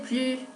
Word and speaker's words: plus: Tampoco pronunciamos la S de la palabra plus cuando esta aparece en una negación. Par exemple, tu veux encore du coca? Non, je n'en veux plus.